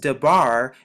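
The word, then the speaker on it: דבר: as you can see it's simply pronounced dabar just like with this word is pronounced shabar as you can see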